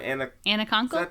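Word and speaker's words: Anna Konkle: How'd you pronounce her name? Anna Conkle.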